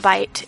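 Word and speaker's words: Byte: So apparently there's a new app out called Bite, and it has been out for 24 to 36 hours as of now, and it's spelled B-Y-T-E.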